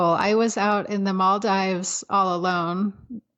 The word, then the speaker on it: Maldives: was out in the Maldives all alone or I guess you're supposed to pronounce in Maldives and this older man